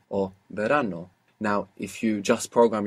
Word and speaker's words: verano: live we need to open up that Association of the letter V to include that soft B maybe you look up the word in the dictionary for summer which is Verano or Verano now if you just